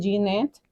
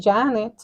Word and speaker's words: Janet: Janet Janet y pues yo soy Janet o Janet o que se escriben igual pero no soy ginette porque yo no tengo una e entre la jota con puntito o una y de puntito Sí sí Y es